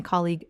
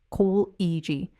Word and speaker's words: colleague: Col-eg. My colleague recommended this restaurant. Col-eg. We worked with a colleague from the Paris office on this project. Col-eg. Notice the stress lands clearly on that first syllable.